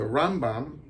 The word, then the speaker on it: Rambam: bond that's been Atman the accent is on the second syllable so the Rambam he says every cetera